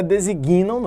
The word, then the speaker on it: designam: os Concretos designam e a pronúncia certa né designam É designo você traz a quantidade para unir designam antes do g mudo designam as palavras reais